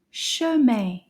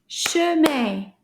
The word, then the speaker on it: chemin: Chemin. Chemin. Combien de syllabes? Chemin. Chemin. 2 syllabes. Chemin. 2 syllabes. Can you find the E sound?